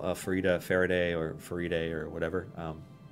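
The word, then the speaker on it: Farideh: It's pronounced Farida? I was pronouncing it Faraday the whole time. No, it is officially pronounced Farida, at least according to Aaron M. Evans, who said it's Farida as in fajita.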